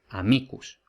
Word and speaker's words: amicus: Por tanto, si la penúltima tiene una raya por encima, tiene un macrón, la penúltima es larga y por tanto es acentuada, amicus.